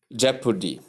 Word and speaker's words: jeopardy: par long a sound that's not how you pronounce it you simply say jeopardy thank you then tip your emphasis should be laid on the first syllable which is j as you see above number